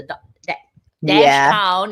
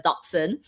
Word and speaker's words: dachshund: with the little dachshund the do dash pound if you want to pronounce it but it's dachshund and that thing is